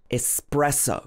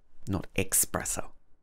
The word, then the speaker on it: espresso: This is another one that I often get wrong. This is a type of coffee that comes from Italy, but in English we normally say espresso. But I often say espresso because it looks quite similar to express, so it's easy to get confused.